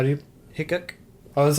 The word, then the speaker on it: Hickok: Hickok, Oh, that's how you say it.